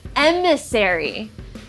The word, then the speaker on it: Emissary: but then i figured out that it's called emissary and this means a person sent on a